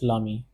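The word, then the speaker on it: l'ami: A E is added in this particular spelling, and this is also pronounced as Lami. Since it is starting with a vowel, be it masculine, this one, or be it feminine, this one.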